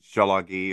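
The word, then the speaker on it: Tsalagi: Just like, you know, we would say Jalagi or Jalagi, Jalagi or Jalagi. And then in English, you would say Cherokee.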